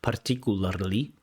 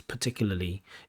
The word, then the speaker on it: particularly: So words like particularly, they might look like they should be pronounced as particularly, but they're not. It's particularly.